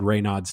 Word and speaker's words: Raynaud: And by the way, the pronunciation online, the doctor actually said Raynaud's too, but the online, like it's supposed to be Raynaud. It's a silent Raynaud.